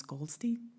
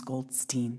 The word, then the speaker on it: Goldstein: I would like to correct you that the correct pronunciation of my name is Goldstein.